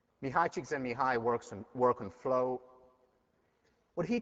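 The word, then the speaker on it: Mihaly Csikszentmihalyi: So, extra point on the final for the person who can pronounce this. Mihai Csikszentmihalyi. Mihai Csikszentmihalyi work on flow.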